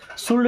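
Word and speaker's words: should: चाहिए दोस्तों शुड word में एल साइलेंट होता है ना शुड नहीं पढ़ना शुड स्लीप का मतलब होता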